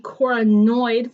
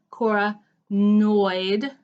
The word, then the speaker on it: coronoid: need the coronoid fossa I'm going to say it like that because it's important that you hear Cora noid that end sounds because there are other structures on other bones that sound very similar unfortunately here's my humerus